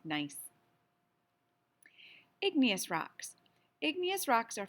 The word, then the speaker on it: gneiss: It looks like gneiss, but it's not. It's pronounced nice.